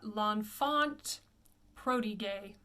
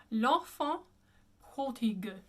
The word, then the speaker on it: L'Enfant prodigue: I often hear people say this one, l'enfant prodigue, and the correct pronunciation would be l'enfant, just two nasals, l'enfant prodigue, prodigue.